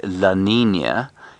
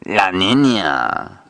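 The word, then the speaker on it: La Niña: David, you must always attempt to pronounce foreign languages in um you know, in the relevant accent. So you can't say Laninia. You've got to say it like a Mexican drug lord.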